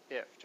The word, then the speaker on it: IFTTT: And it's pronounced gift without the G, ift, okay?